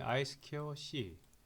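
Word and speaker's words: I²C: 그냥 이 2가 스퀘어라는 의미죠. 그죠? 스퀘어 그 다음에 I 스퀘어 C. 그래서 I 스퀘어 C라고도 읽고요.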